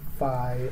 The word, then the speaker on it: phi: If I'm concerned about the phi of, that's how we pronounce this symbol, the phi of, let's say,